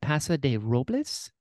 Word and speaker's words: Paso de Robles: Paso de Robles?